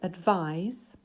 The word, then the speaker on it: advise: syllable blocks directly underneath so this word advise advise has two syllables and we can see from the green color on the second block that it's the second syllable that's stressed uh eyes and you